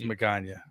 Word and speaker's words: Magaña: The easiest way to do it is it rhymes with lasagna. It's Magaña.